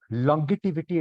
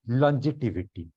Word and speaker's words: longevity: Instead of longevity, it should be longevity. Longevity, jaw sound should be coming over there.